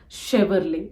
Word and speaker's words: Chevrolet: knowing but again so this is pronounced as shiverly it is not Chevrolet not Chevrolet it is Chevrolet this is pronounced the